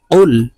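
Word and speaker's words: قُلْ: দেখুন কফ লাম পেশ কুল কুল কফ জিহ্বার গোড়া থেকে উচ্চারণ করতে হবে কুল হামজাহ জবর আইন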